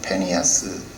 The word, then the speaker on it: 비느하스: 비느하스, 뭐 페니하스, 원래 발음은 페니하스. 비느하스라고 하는 말은 구릿빛 입술, 뭐 이런 말이에요.